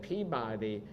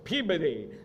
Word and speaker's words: Peabody: in Boston and I I once said Peabody and like I got everybody like no it's Peabody so I learned that so not something I would have known just phonetically Reverend uh Theodore Parker